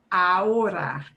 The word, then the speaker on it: ahora: It's not ahora. Ahora. You go straight from the A to the O.